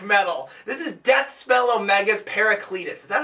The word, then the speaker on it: Paracletus: This is Deathspell Omega's Paracletus.